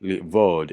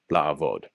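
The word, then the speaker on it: לעבוד: It's not livod, it's la'avod.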